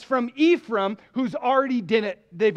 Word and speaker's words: Ephraim: one then the men of of Ephraim or you could pronounce it Ephraim gathered together crossed over